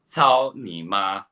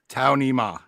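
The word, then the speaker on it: 操你妈: Yeah, and it's pronounced Cao Ni Ma. Cao Ni Ma.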